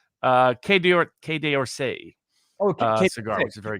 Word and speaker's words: Quai d'Orsay: You would be able to pronunciate it better than I. Quai d'Orsay Oh, cigar, which is very good.